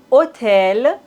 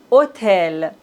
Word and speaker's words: hôtel: et la dernière règle dans la langue française on ne prononce pas le H comme si ça n'existait pas du tout on hôpital hôtel véhicule vous voyez on